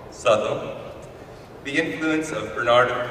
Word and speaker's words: Southwell: How do they pronounce that name, good father? Southwell.